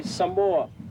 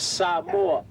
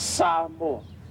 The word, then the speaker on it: Samoa: Most people will say Samoa. The right pronunciation of the word is Samoa. Okay? So it's not Samoa, it's Samoa.